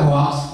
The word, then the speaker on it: hoax: Para rekan-rekan netizen zaman now, hoax ini tulisannya hoax, bacanya hoax ini menjadi permasalahan dunia, ya,